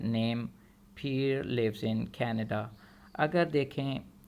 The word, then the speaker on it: Pierre: Line number 1 में लफ्ज़ लिखा है name पीयर lives in Canada. अगर देखें तो इसमें जो पहला लफ्ज़ है इसके अंदर आपको बताए देते हैं कि PIERRE, आखिर में जो आर है ये साइलेंट है।